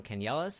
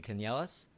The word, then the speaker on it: Canellas: of death scanner for white rabbits games can yell us is how you pronounce it by the way you can yell us yes okay I was wondering what's the origin